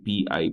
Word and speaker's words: pi: That is a Greek constant, and it is pronounced as pi, P-I, pi.